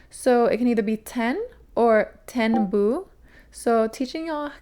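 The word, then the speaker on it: 天: So, this being is called Ten, like TN is like how you would pronounce it.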